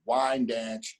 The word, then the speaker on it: Wyandanch: Wyandanch, Long Island.